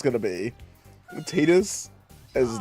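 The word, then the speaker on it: Tidus: as I know I know that it is pronounced Tetus. I am aware that an official like I think it was in the Dinia series they called him Tetus.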